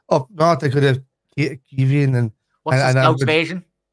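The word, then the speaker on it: Caoimhín: Quiveen. Quiveen. No, Quiveen. Quiveen. Yeah, so like think of like almost saying Queen and then Quiveen. Yeah. That's the way we say it down south.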